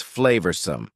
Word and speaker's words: flavorsome: Next, number 10 is flavorsome. Flavorsome means delicious and full of flavor. Notice the pronunciation. Two schwah sounds there. Flavorsome.